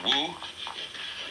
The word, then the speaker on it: wu: So the transitional word, which shows the way from to realize De in one's life, this is pronounced, this one is Wu, this one is Wei,